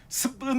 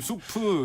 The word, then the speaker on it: 수프: 발음이 꼬아져서 이상하게 굳어진 그런 발음인데 원래는 수프 이런 식으로 우리나라 외래어 표기법에서 표기했는데 라면 업계에서 돌아가서 생긴 말인 이 스프라는 말이 이상하게 좀 굳어진 상황입니다.